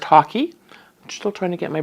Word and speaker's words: hake: I'm just going to use my hake brush, hake brush. This is my Ron Ranson ha- hake hack- ha- hake hake hake brush, h a k e. Um I've heard it's pronounced hockey.